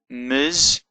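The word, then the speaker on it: מזבח: Now normally the vowel underneath the letter follows the letter, so it's pronounced after the letter, but when it's at the end of the word, it's often pronounced before the end of the letter that it's underneath.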